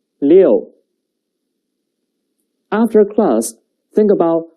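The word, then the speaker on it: 六: The pronunciation is leo.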